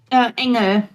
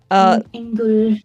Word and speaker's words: Engel: There's fuck, I can't pronounce it. It's angel in German. I'm gonna butcher it. You say it. Engel. Yes. Engel.